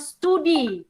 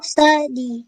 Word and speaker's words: study: Okay, then ya tadi ada yang bacanya studi. Yang benar apa? Studi atau? Study. Yes, Study.